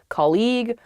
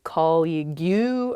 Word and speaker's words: colleague: students struggle with this they say colleague or they say call you or something because the spelling of this word is really really strange there's that g-u-e at the end or more commonly i